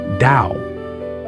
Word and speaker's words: Tao: That's why Dudism has a lot in common with the ancient Chinese philosophy of the Tao, spelled T AO, pronounced like Dao.